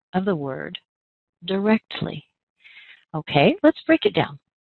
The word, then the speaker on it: directly: First of all, let's identify where the strongest and longest stress is. That's on our second syllable. That's the sound rect.